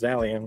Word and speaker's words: Psalion: Singapore-based Psalion, p s a l i o n, maybe just Zalion with a silent p, launched a $50 USD blockchain fund focused on stable coins, trade finance, and tokenized real world assets and middleware.